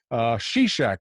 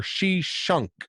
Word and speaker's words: Shishak: Shishak or Shishunk. Sometimes it's spelled with a Q on the end, and sometimes it's Sheshenk.